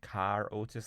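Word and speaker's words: Carré Otis: Carrie Otis in Car Otis, like John Le Carre.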